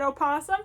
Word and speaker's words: opossum: And yes, I said opossum. Apparently possum is spelled with an O.